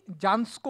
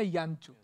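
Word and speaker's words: Jancsó: দিন ছবি দেখতে গেছি জানস্কো বলে একজনের ছবি দেখানো হবে, আমরা তখন জানিও না যে উচ্চারণটা ইয়ানচু, তা আমরা তো ভালো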